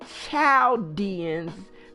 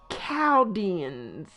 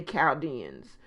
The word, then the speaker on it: Chaldean: and written about in the bible most people pronounce it childians because it's c-h-a-l-d-e-a-n but it's pronounced cowdens they speak of themselves the same they say chaodians so that's why i know as cabins um